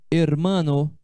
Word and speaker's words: hermano: O H em espanhol é uma letra sempre muda. O H é mudo, nunca tem som. Não, o H não tem som em espanhol. Então aqui eu leio, ó, hermano, que quer dizer irmão, hermano.